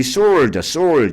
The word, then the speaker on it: sword: 우리 sword. SW 발음할 때요 W 발음이 안 돼.